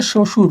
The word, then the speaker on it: শ্বশুর: এর উচ্চারণ হয় না। যেমন আছে শ্বশুর।